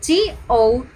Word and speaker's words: tough: So, for example, the word spelled as T-O-U-G-H but sounds like or pronounced as T-U-F-F or tough.